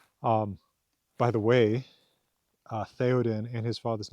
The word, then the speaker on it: Théoden: Old English, being the ancestor of our own language, English, does have th sound. In The Lord of the Rings, Tolkien spells them th, right? Théoden, t h e o d e n.